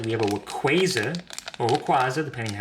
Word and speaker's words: Rayquaza: We have a Rayquaza, or Rayquaza, depending on how you pronounce it. I pronounce it Rayquaza, but I know it's actually pronounced Rayquaza.